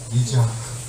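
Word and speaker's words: יצחק: 이즈하크. 그래서 이삭이라는 단어의 히브리어 발음은 이즈하크가 된 겁니다.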